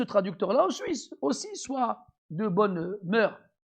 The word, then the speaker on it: mœurs: Donc il faut qu'on soit sûr que ce traducteur-là aussi soit de bonne mœurs. Je dis pas mœurs, le S ne se prononce pas.